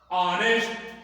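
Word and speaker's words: honest: ऑनेस्ट यच जो है वह क्या है?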